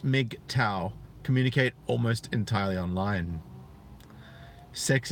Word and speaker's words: MGTOW: dollar habla members of Macau pronounced Mik Tao communicate almost entirely online